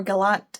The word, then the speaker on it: Gallant: one next up is Gallant by V Schwab or Galant as some people call it I don't know why people would say it like that I'm pretty sure I say Gallant it might just be an accent thing um again I'm pretty